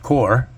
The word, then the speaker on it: corps: Corpse pronounced core.